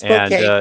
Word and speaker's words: Bouquet: they wanted Carol Bouquet or Bouquet, however you pronounce her name. It's Bouquet.